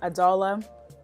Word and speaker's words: Adala: it is adala um some people call me Ada for short I prefer adala okay adala is how I say my name and yeah so this